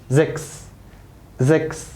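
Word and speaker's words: sechs: ها اللي تسي ها اس تنطق اكس. تسي ها اس تنطق اكس. زكس. ها فيكسل. يبقى زكس فيكسل.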